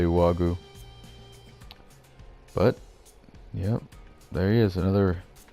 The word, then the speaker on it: Juaggu: you want to say I said the J is silent so I just say Wagyu but yeah there is